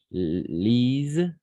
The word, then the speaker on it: lisent: Les amis lisent, pas lisons. On ne prononce pas ENT à la fin, jamais. ENT, on ne prononce pas jamais. Pas, simplement lisent.